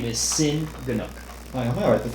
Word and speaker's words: Cinn: Sin? Yep. Wong. How do you pronounce it? Wom. I pronounce Lightsaber it sound. Sin.